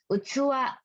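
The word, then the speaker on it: 器: Dibacanya ada 3 hiragana nih, dihafal ya. Utsuwa.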